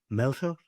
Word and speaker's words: Melchor: I'm going to try to do the Mexican say, Melchor. I butchered it.